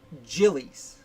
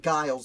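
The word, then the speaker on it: Giles: is william branch jillies that name is pronounced jillies i will be saying guiles the whole time because that's how i've always read it i only found out it was jilly's uh as i was writing this article and doing the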